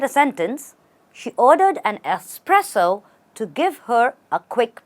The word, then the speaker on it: espresso: you say this word do we say expresso no we say espresso a espresso stress on spr a espresso say sted